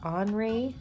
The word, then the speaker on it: Henri: artist from the 1800s, Henri Matisse. Now if you look him up, it's going to look like his name is Henry, but the French pronounce their names differently than we do here, and that's totally awesome.